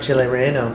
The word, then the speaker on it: Chile Relleno: Whenever we go to Mexican restaurants, he always gets a Chile Relleno. I never say it right. Say it? That was right, Chile Relleno.